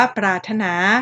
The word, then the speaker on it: ปรารถนา: ปรารถนา พรม นะ คะ เรา ก็ ไม่ อ่าน ปรา รา รถ นา พร ห่ม อะไร นี้ ใช่ แล้ว ก็ อ่าน ว่า ปรารถนา หรือ คำ ว่า พรม เนาะ หอ หรือ ออ